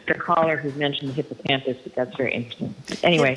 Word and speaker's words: hippocampus: caller who mentioned the hippocampus but that's very interesting anyway hius how do you wait how do you say it how do you say it hippo hippo campus oh okay fine okay not Campo well I'm gonna I'm